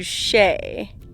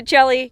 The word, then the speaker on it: Chelly: place called Canyon de Chelly it's spelled like Canyon de Chelly so you've probably